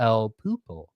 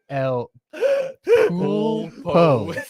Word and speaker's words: El Pulpo: So, but I'm smoking, and I always mispronounce it, the El Pupo. El Pulpo.